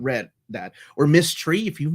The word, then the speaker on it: Miss Tree: Or Miss Tree, if you've not read Miss Tree, it's being published by MISS Tree. Yeah. That's get it? Yes. Like mystery, but it's spelled MISS, like Miss.